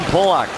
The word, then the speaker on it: Polak: Paille there against Polak, and that is how the 8-year veteran pronounces his name, Roman Polak, from the Czech Republic.